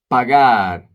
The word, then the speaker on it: pagar: Pagar, to pay. Sometimes people confuse pagar with pegar because they are not pronouncing the A correctly.